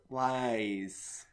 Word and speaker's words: Ys: seven different ways is jeez there's wise there's East it's actually pronounced wise wise w is e yeah it's Y posh